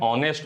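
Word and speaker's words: honest: आ एन ऑनेस्ट मैन a sound आ रहा है।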